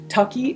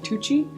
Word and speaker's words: Tucci: privilege done identity if someone says tucky instead of Tucci it doesn't actually hurt